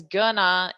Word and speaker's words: going to: Now, just a note, most students do this anyway, but just so you know, going to this section here, we pronounce it as gonna in spoken English.